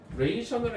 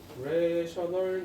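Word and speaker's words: rational: 레이셔널이 아니라 레이셔널이라고 읽어요. 이렇게 씁니다. 레셔널 넘버라고 합니다.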